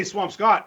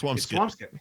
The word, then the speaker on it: Swampscott: I know how to pronounce Swampscott like a person from the North Shore. Because you don't say Swampscott. It's Swampskit. Yeah. Swampskit. Yeah.